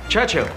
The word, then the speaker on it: Churchill: enjoying sir James's visit his church Churchill that's how you say it all together like that I'd heard church and hill but couldn't find either all I could see